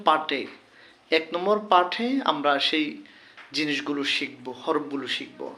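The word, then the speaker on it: ث: আলিফ আলিফ বা তা সা যখন বলবো নরম করে বলবো আমাদেরকে খেয়াল করে বলতে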